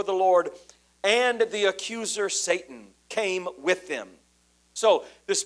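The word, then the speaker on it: שָׂטָן: That's what the word Satan or it's pronounced in Hebrew, Satan.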